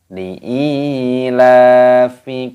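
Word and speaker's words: لإيلاف: Di sini lam alifnya dibaca panjang, ada tanda ya sukun matopi'i, dipanjangkan dua ketukan, dan lamnya di sini juga dibaca panjang, ada tanda harokat seperti ini. Li'ilafi, seperti itu.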